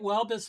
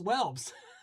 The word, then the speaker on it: Welbes: Oh, is that how you pronounce Hey, Blake. Blake popped off. So, I I did I did I get Welbus right for your last name?